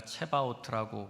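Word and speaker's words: צבאות: 나는 여호와의 군대 대장이다라고 하는 야회 스바우트 제가 체바우트라고 한글로 써 놨는데 보통 한글 표기를 저렇게 해서 그렇게 쓴 거고요. 어 실제 발음은 스바우트입니다.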